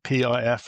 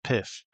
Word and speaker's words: PIF: I am is that they are called PIF and not PIFF. I was quickly taught this. You you should never call them PIFF. They want to be called PI if I also learned